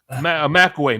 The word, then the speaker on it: McElwee: McAway. McAway is the guy we're thinking of. Jim McAway? Yeah, Jim McAway. I don't remember him. Yeah. Yeah, it's spelled like McElwee.